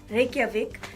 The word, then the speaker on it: Reykjavik: capital city is Reykjavik I don't know if I pronounced that right but we pronounced J is why here so Reykjavik and when did you